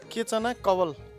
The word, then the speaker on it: केचना कवाल: जाँदा जाँदा एउटा कुरा भन्नै पर्छ, मैले नामहरू नाम चाहिँ गलत उच्चारण गर्दै आइरहेको थिएँ होइन, त्यसको लागि क्षमा चाहन्छु, यसको नाम चाहिँ केचना कवाल भन्दो रहेछ होइन, त्यो अलिकति जिब्रो